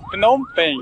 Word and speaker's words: Phnom Penh: Phnom Penh. Phnom Penh. É um pouco complicado mesmo pronunciar o nome dele, já perguntei várias vezes